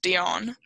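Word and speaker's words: d'Éon: Google Translate tells me her last name is pronounced Dione so her name is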